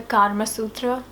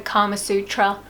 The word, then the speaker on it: Kama Sutra: life is the book, the Kama Sutra, or in a westernized pronunciation, the Kama Sutra.